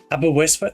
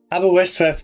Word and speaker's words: Aberystwyth: Aberystwyth?